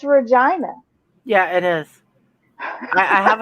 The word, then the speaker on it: Regina: youtube and i i searched for how to pronounce regina canada and it's regina yeah it is i have a friend who